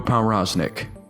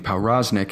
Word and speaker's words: Powroznik: For one, I am aware that Bruno's last name is Polish and is most likely pronounced Powroznik. However, in this video I'll be using Powroznik as it's what he's most commonly known by.